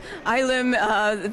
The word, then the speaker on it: Ylem: What is ILM, or how do you pronounce it? ILM, the word is actually an old Greek word that refers to the primordial mass of the universe before the Big Bang.